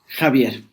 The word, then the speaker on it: Xavier: I'm sitting here with Xavier. Is that the correct pronunciation? Javier.